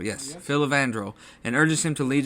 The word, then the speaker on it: Filavandrel: They wake up in a mountain cave where Geralt meets the elven king, how do you pronounce his name? Filavandrel, yes. Filavandrel, and urges him to lead his people to better lands after being banished by the humans.